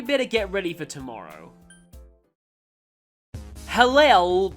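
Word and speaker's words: Helel: Halel, well, that's the way the main characters say it, but I think it's supposed to be pronounced Halel, is, well, the short version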